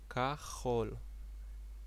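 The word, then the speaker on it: כחול: language kahol kahol kahol I know it might be a little bit difficult uh for some of you to pronounce the sound especially to the English speakers amongst you but you can do it with some practice Hi how are you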